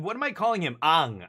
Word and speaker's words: Aang: Ang. I'm calling him Ang. It's because in Korea, like, like the way the vowels are pronounced, that's what I'm going by.